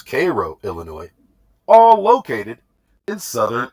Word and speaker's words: Cairo: Thebes, Illinois, Karnak, Illinois, Cairo, pronounced by the locals Cairo, Illinois, all located in southern Illinois, also known as Little Egypt.